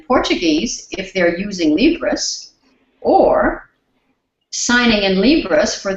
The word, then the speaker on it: Libras: speak Portuguese and libras Libras is the name of Brazilian sign language it's spelled l i b r a Libras and so we asked